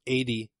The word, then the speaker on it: Ady: It's by Ady, it's Andy without the N, so I think it's pronounced Ady Bankan, and this is apparently